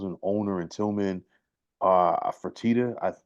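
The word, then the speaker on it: Fertitta: owner in Tillman uh fatita please don't hold it to me if I'm not pronouncing his uh last name correctly yeah tman fatita yeah you got right right listen tman don't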